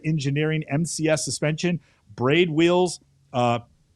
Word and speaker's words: PIAA: It's equipped with Terra Engineering MCS suspension, braid wheels, PIAA. How do you pronounce that, Mental? Pia? Is it Pia? PIAA is actually how I always say it.